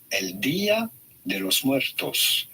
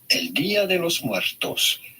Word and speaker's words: El Día de los Muertos: This is usually pronounced as El Día de los Muertos. El Día de los Muertos. Día meaning day, de los muertos, of the dead.